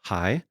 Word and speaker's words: HAIS: Inc and stories Club the acronym is spelled h a i s which is pronounced as high uh the word high